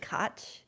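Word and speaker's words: Koch: was like, is it Kotch? Is it People said it a lot. It's k o c h spelled. Blake tells me it's pronounced.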